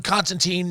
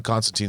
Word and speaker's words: Constantine: of the quintessential John Constantine stories by the way as you said his real name is Constantine they mispronounce it in the movie and made it Constantine to say yeah Chris